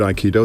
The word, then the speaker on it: aikido: first of all the the word iido there's three three syllables I key and do uh I is the